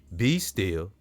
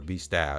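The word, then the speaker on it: B. Stille: It's either Be Still or Be Style. Okay, I'm gonna go with B Style. Skinny DeVille, no, it's gotta be Still. Skinny DeVille, because it's spelled like that too.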